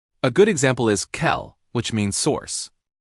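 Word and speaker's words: Quelle: Q is C, but it's almost always followed by a U and creates a KV sound. A good example is kel, which means source.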